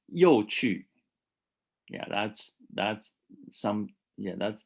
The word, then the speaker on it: 有趣: 有趣，有趣 that's the fourth tone, non-third, so it's a low fourth, low fourth. 很有趣，很有趣。So not 很有趣.